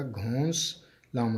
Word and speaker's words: घोंसला: और ये देखें, घा व घो नून जो है वो साइलेंट हो जाएगा और सीन जो है उसके साथ मिल जाएगा घोंस लाम अलिफ ला, घोंसला।